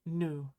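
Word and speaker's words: ぬ: Next is nu.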